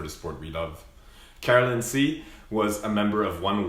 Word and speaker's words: Tse: you karen c carolyn say welcome to the dragon boat canada podcast thank you for joining us sorry my last name is pronounced c c oh okay sorry like the letter c yeah okay let's do